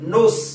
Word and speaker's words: nous: mot grec qui s'écrit no us ça se prononce nos ça se prononce n2occe mais ça s'écrit n